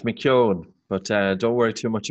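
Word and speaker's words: McKeown: sure you get it this too it's it's McCune but don't worry too much about it I've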